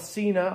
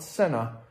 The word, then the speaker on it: Sena: my 10c evo from cena i call it cena i don't call it senna because i'm an english teacher and i'm a